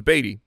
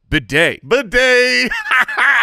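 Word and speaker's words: Badie: Apparently, we've been saying his name wrong the whole time. We thought it was Beatty, but it is Tyler Bidet.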